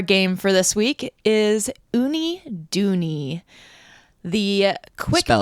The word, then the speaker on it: Uniduni: Well, as the captain, our game for this week is Oonie Doney. The quick spell it U N I D U N I love it.